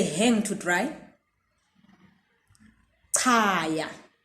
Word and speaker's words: ca: CA without the H is pronounced cha. It's pronounced cha.